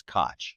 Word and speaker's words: Koch: is, you know, good right-wing activists, KOC is pronounced Koch, but in fact, um, our mayor was cotch.